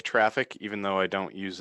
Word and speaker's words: Traefik: Could someone toss a link to traffic in the chat? Because I know that's spelled differently for people. It's TRAEFIK. But yeah. So I really like traffic, even though I don't use it in production.